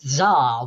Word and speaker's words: tsar: suddenly everyone realized that that word is actually pronounced tsar without the t oh and how it's